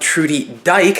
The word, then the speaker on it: Trudy Dyke: Also, before this video starts, I would like to thank and shout out Trudy Dyke. That is actually how you say her name.